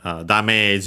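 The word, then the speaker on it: ダメージ: But yeah, here is damage. Notice also the longer vowel. So, yeah, the accent is on the me.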